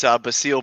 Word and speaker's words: Basile: It's Basile, by the way, last name. It's all good. Basile, damn it. I know. I tell people it's like Basil with an E at the end. It's pronounced Basile though.